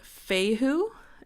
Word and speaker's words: Fehu: So this first one here is called Fehu and it is spelled F-E-H-U, and this rune is depiction of